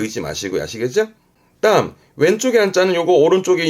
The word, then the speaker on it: 脚: 발음은 아시.